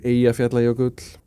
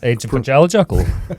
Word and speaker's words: Eyjafjallajökull: Eyjafjallajökull. Yeah. Well, you see, yes, the Icelandic J is in fact a Y, and then maybe it can